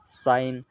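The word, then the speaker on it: sign: हैं यह से पहले जी है इसलिए जी साइलेंट होगा साइन रिजाइन डिजाइन इन सभी मैं आप देख सकते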